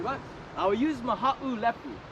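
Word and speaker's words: Mahaʻulepu: Lepu, a little bit easier to say Mahalapu.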